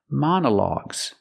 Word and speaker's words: monologues: the word monologues monologues for the first syllable we use the short a sound like hot and stop we say Ma man Mona monologs now let's talk about